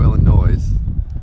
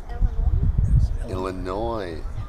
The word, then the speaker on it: Illinois: Illinois. We should have asked. Why do they put an S on the end? If you're not going to pronounce it.